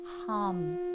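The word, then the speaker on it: ham: we're going to chant the seed sound which is a syllable hum h-a-m but though you're chanting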